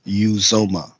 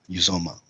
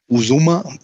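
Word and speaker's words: Uzomah: making up my name it's uzoma uzoma uzuma no it's uzoma yeah the odds are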